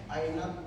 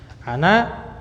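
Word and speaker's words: أنا: Ainat tolibu qadim. Nah, perhatikan cara bacanya. Tolibun tanpa alif lam. Ainat tolibu. Nah, itu antum bacanya mengidghamkan ke to. Dan itu ana ya, ana. Ana bukan aina.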